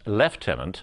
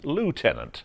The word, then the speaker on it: lieutenant: Minister Tony Blair when he pronounced leftenant Lieutenant the American way then he began speaking